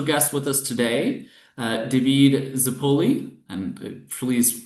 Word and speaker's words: Zappulli: I'm your host, and I have a special guest with us today, David Zappulli. And please correct me if I mispronounce that in any You way.